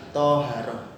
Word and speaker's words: taharah: Tulisannya taharah tapi bacanya adalah toharoh.